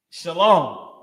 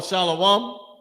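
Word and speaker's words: שלום: you know is is shalom. What they call shalawam. Shalom. The correct way to say it. That's what you'll have. Everybody saying it now. Shalawam. And they saying it wrong.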